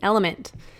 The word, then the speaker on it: LMNT: of our sponsors, LMNT, Element. It's spelled LMNT, but pronounced Element.